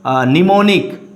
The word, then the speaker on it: mnemonic: Now see, first word I have written mnemonic. So M is silent here. Mnemonic is a method.